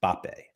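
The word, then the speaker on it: Mbappé: live in France that the correct pronunciation which everybody avoids is just B that the m is almost silent and it should be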